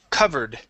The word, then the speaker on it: covered: Uh, let's go to the word covered. Instead of covered, it is c covered. Covered. Okay. Give me a v sound.